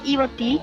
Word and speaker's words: Ibotí: no, es Iguazú, Ibotí, el conjunto Ibotí, y yo le digo, es Ibotí, así es la pronunciación formoseña, y no